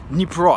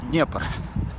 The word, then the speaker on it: Dnipro: The river calls Dnipro. The city calls Kyiv. Not Kyiv, not Dnieper. Because we have two kinds of pronunciation, Russian one and Ukrainian one. So in USSR it was city of Kyiv and the river Dnieper. And Ukrainian ones is the city of Kyiv and the river Dnipro.